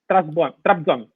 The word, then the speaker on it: Trabzon: Mustafa, Trabzon. Did I pronounce it good? Trabzon.